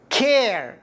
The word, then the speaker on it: care: كسرة مكسور بشكل ممدود، يعني كما سنلاحظ في كلمة care care، يعني نحن في السابق نطقناها car كأنه ألف، لكن بسبب وجود الإي في آخر الكلمة، الإي تسببت في أن الإي انكسر فأصبحت كير، يعني من كار أصبحت كير بسبب الإي.